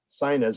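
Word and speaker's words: Synnes: conversation yesterday with audrey sinus who is pronounced sinus as in the nose okay but it's different spelling he's based in oslo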